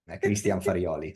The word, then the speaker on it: Christian Farioli: And you are one of the very few that can pronounce correctly. My name is surname Christian Farioli.